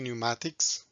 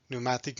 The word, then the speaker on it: pneumatic: might pronounce it differently in some languages they pronounce p at the beginning but in british and american pronunciation that p is silent five basic components of